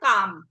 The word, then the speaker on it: calm: এটার উচ্চারণটা এটার উচ্চারণটা হবে কাম।